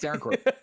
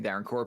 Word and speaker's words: Darren Korb: Okay, it's Darren Korb. I said that, and immediately your face went like this, and I was like, okay, did I say his name wrong? No. It's definitely Darren Korb, who voices the main character.